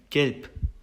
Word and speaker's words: gelb: 그 다음에 이제 뒤에 나온 단어 gelb 같은 경우에는 be가 단어의 맨 마지막에 오면서 프 발음으로 변했죠.